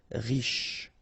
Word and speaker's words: riche: Final E not really pronounced, so sh is the last sound. Riche.